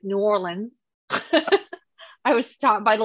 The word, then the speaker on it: New Orleans: Yeah, I was in New Orleans, which I'm pronouncing it correctly now. I used to pronounce it New Orleans, but it's New Orleans.